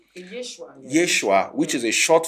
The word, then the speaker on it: Yeshua: yeah I heard so so is um actually pronounced as it Yeshua Yeshua there's no J Yeshua Yeshua which is a short form of yosua